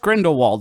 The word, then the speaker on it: Grindelwald: to pay for it we're just we're just Grindelwald over here oh I said it right no